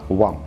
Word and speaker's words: Hwam: будет называется он вам пишется название из четырех букв х вам но читается правильно one бренд датский бренд очень